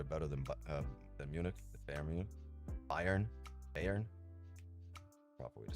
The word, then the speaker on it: Bayern: Bayern Bayern proper way to say Bayern Munich.